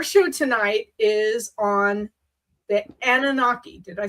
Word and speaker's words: Anunnaki: Okay, so our show tonight is on the Anunnaki. Did I say it right? Anunnaki, I would say so. Anunnaki.